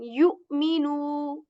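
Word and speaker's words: يؤمنوا: Okay, then yu'minu. yu'minu. So whenever Hamza comes in second position, we are going to pronounce it with a bit of jerk, like you.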